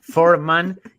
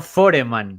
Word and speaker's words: Foreman: me hace mucho ruido Escuchar forman y no foreman para mí es George foreman de toda la vida ya Ya no esto